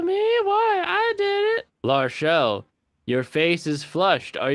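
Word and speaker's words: L'Arachel: pronunciation is La Rochelle. Yeah, La Rochelle.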